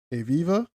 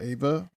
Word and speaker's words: Aviva: You also have Aviva. Or Aviva.